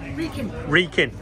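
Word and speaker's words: Wrekin: Reekin. So you don't say the W. Obviously, it's that big mountain over there. Not Reckin. What everyone wants to call it.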